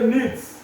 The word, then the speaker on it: Nietzsche: O pastor, o pai de Nietzsche, se escreve desse tamanho o nome dele, mas se lê Nietzsche.